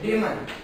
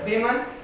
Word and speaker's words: women: But plural of woman is pronounced to be there, women. Woman, singular, women, plural.